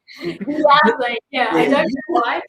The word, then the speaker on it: viagem: Vamos fazer verde na próxima viagem, com aipo, espinafres, manjericão e salsa.